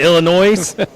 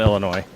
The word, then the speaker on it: Illinois: Sue berries actually from Illinois so I've heard about Illinois for years yeah no the s is silent foreign oh boy but